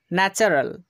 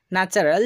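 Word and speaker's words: natural: চ এর মতো করছি পরবর্তী নিয়ম ওয়ার্ডের মধ্যে টি এবং এরপর পরে ইউ আর এ থাকলে টি এর উচ্চারণ চ হবে উদাহরণ দেখুন ন্যাচারাল তো এখানে আমরা টি এর পরে ইউ আর এ কে দেখতে পাচ্ছি তাই টি এর উচ্চারণ চ হচ্ছে ন্যাচারাল যার অর্থ হচ্ছে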